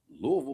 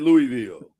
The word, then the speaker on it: Louisville: out to Sheldon Rankins from the University of Louisville. Louisville. There you go. Louisville. That's right. Louisville. That's right. Thank you, Byron. It's Louisville. Louisville. Shame on you. Shout out to everybody that calls it Louisville.